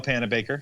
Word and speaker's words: Panabaker: It's Danielle Panabaker.